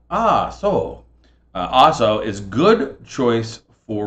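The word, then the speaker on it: Ah-So: All right, the next question is, what corkscrew, sometimes called an ASO, by the way, that is spelled A-H-S-O, right? ASO.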